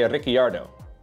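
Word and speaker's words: Ricciardo: Dutch Formula 1 commentary they don't pronounce Ricardo Ricardo they actually pronounce the i in his name so they say riardo which is probably more accurate than the original pronunciation but nobody says his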